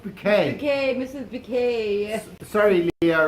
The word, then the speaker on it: Bucket: but it's not black it's pronounced bouquet okay mrs bk sorry